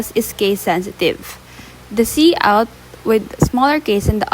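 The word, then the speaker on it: cout: So C out is pronounced as C s e out is an object used with the insertion operator to output or print text.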